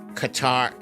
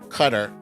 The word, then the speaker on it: Qatar: yesterday a flight on qatar cutter gutter i think it's pronounced gutter on gutter airlines uh